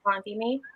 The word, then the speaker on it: Kalanithi: last name because I've never actually heard it pronounced. I think it's Kalanthini, Paul Kalanithi.